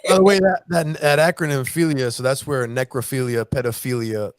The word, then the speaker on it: philia: How do you pronounce the next one? Is it philia?